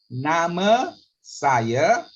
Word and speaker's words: nama saya: Do you mind just repeating again on the nama saya? All right. Nama saya. With the R at the back, the A sounds is like a sound.